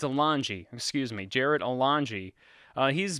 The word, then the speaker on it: Alonge: Now, Jarrod Alonge, I believe is how you say his name. It's Alonge.